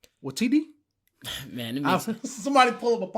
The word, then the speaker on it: Waititi: I mean, Taika Waititi. Man, somebody pull up a podcast. It's like with somebody saying his name the right way. It's spelled away, but it's not pronounced that way at all. Waititi.